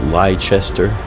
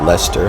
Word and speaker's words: Leicester: Richard III in leester so it looks like liester but it's pronounced Lester and being from New England I'm used to